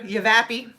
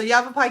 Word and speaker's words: Yavapai: you yav aie County or as I would say when I first moved here yappi because I didn't know how to pronounce everything um but um yeah so Yavapai County so like a